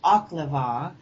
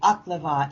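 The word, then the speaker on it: Oklevueha: This particular Native American church, Oklava. Can you spell that for our listeners?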